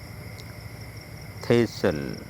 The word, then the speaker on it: thistle: কোন শব্দের শেষে এসটি এলই থাকলে সেখানে টি অনুচ্চারিত থাকে এবং উচ্চারণটি সল এর মত হয়। এক্সাম্পল খেসল দুর্গ হইসেল বাসি বা হইসেল দেওয়া থেসেল এক ধরনের কাটা গাছ